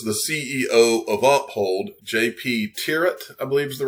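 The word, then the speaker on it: Thieriot: as to what, because his name is spelled like TH, but I think it's JP Tirrett is the way you say his last name.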